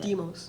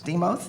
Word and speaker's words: Deimos: Deimos. Deimos, thank you.